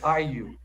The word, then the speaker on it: AYU: So it's IU. IU, okay. AYU. AIU. But A is pronounced IU.